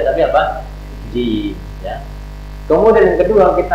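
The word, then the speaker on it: جيم: Nah, ini jim. Jadi bukan ja. Ini bukan ja, tapi apa? Jim.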